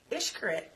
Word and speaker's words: Xcaret: Xcaret. Now, that is how it's pronounced.